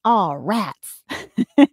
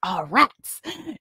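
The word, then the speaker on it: ערץ: dreadful, terrifying fear, and arats, pronounced ah rats. So it's really like ah rats. You gotta have this in the back of your throat.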